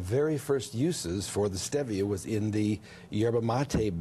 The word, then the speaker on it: Stevia: looks like Stevia but the correct pronunciation is Stevia it's Spanish and and it comes